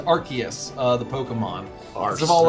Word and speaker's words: Arceus: The same reason why they changed the pronunciation of Arceus to Arceus, the Pokemon.